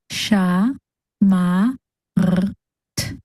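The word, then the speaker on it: שָׁמַרְתְּ: of your mouth, and the base sound of tav is t. So together, our last syllable makes ma, r, t, mart. Putting it all together, we get sha, ma, r, t, shamart.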